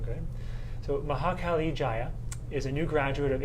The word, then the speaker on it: Maha Kali Jaya: And I'm actually joined today by Maha Kali Jaya.